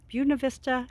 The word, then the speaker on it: Buena Vista: Earth this place is fantastic Turtle Rock and Buena Vista Colorado yes that's how they say it oh